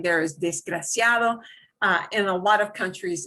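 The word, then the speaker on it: desgraciado: you're saying there is disgraciado and a lot of countries in a lot of places when they're talking very very fast they don't always pronounce the d it means they're not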